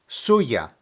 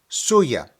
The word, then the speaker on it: suya: referring to dios now when pronouncing it put the emphasis on the first syllable suya suya let's repeat what we